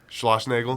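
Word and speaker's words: Schlossnagle: coach there how do you say his name Schloss Nagel that's the one was he there already I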